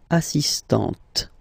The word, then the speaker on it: assistante: So don't pronounce the final T here. But for the feminine form, elle est assistante.